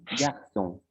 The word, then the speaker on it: garçon: Les consonnes s'édigent est utilisée en français si elle est suivie des lettres A, O, E et que l'on veut la prononcer comme si c'était un S. Par exemple, garçon. Les consonnes H et la